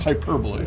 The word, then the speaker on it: hyperbole: hyperbole but it's pronounced hyperbole okay okay emphasis on the per yeah so uh you